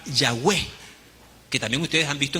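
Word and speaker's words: Yahweh: para tratar de pronunciarlo una mal pronunciación es la palabra Jehová realmente es una una una deformación del nombre de la pronunciación del nombre tal vez la pronunciación más aproximada a es a esas cuatro consonantes es la palabra yahwe que también ustedes han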